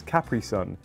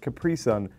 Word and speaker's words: Capri Sun: We pronounce this Capri Sun, you pronounce it Capri Sun. You're putting the emphasis on the completely wrong part of the word.